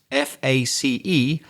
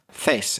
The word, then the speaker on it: face: So the word face f a c e is often mispronounced by foreigners. Certainly Spanish speakers who are the speakers that Craig and I know best will say something like face instead of saying face instead of making it